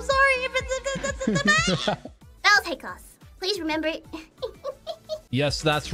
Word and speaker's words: Baelz: My name is pronounced Baelz Hakos.